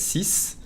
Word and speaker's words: six: most of the time, we only pronounce the SI, si, and not the X. Only if it's followed by a vowel, you hear the Z sound.